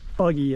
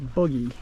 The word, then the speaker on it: Boogy: Trail name it's actually it's not buggy it's boogy with an O instead of a u and Riley he he